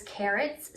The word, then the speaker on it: Kerrits: This is Carrots, spelled with a K, Kerrits.